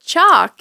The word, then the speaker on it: chalk: it well you know with chalk you don't pronounce the L either so one could say